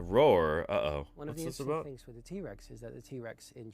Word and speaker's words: T-Rex: I'm talking about here the way that he says T-Rex he said T-Rex and not T-Rex the emphasis was on a different syllable you know he's emphasizing